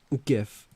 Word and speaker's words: GIF: I say it like gift without the T.